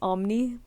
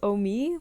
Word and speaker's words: Omi: When I first read your name, I read it as Omni. I don't know why. It's like, and I had to like check your debut just to see how to pronounce it, and it was Omi. And like the only way I tried to help myself remember is by saying oh me, oh my, because I tend to say that sometimes.